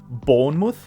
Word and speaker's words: Bournemouth: Произносится он именно так. Bournemouth.